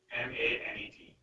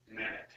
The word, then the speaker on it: MANET: And once somebody told me, somebody who I respect said that, look, a lot of people mispronounce it MANET, so it's not a French word. That net is pronounced fully, so it's a MANET.